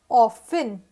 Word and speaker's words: often: tree next we have this word o f t e n it was pronounced as often conversation some people also pronounce this word as often and that is not wrong usually british english or